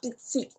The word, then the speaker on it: psi: Psicología, psicólogo, no es una combinación de la letra pi con la sigma y se pronuncia psi, ¿no?